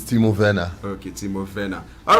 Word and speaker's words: Timo Werner: Chelsea fan, teach them how to It's Timo Werner. Okay, Timo Werner. All right, for Germany, anything W, Navi, did they pronounce them as?